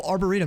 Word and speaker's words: Arboretum: south of the Arboretum oh Arboretum that's how you say it I was asking you guys how to pronounce that I couldn't I couldn't pronounce it right Arboretum that's how we say it Fearless how we